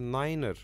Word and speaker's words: niner: and 3 3 is pronounced as a tree to limit confusion with two and the pronunciation of a nine has been shaped as a Niner because it's very suitable to be mixed with